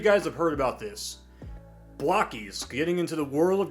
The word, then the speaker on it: Blokees: pronounce the name because I was thinking, is it Blocky's? Uh yeah, but I can laugh about that now. But it's Blocky's.